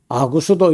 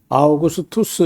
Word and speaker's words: 아우구스투스: 그래서 이런 거는 이제 좀 우리가 발음하는 것도 많이 익숙해지고 하니까 아구스도 이렇게 하지 말고 아우구스투스 이렇게 했으면 좋겠고 가이사 가이사도 글쎄요.